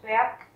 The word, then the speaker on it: Berg: Các bạn chú ý là trong chữ Berg có từ G ở cuối cùng và chúng ta sẽ phát âm như là chữ K nhé.